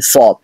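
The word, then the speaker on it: ص: জোরে হচ্ছে চিকন হচ্ছে আর সদ এটা মোটা করে হবে সদ সদ সদ এখানে আওয়াজটা মোটা হচ্ছে এবং জোরে হচ্ছে তার মানে বুঝতে পারলাম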